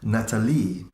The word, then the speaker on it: Natalie: mum told me and he would say her name Natalie the way it is meant to be said stress on the last syllable nobody this side of